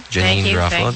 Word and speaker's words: Janeane Garofalo: Janine Garofalo.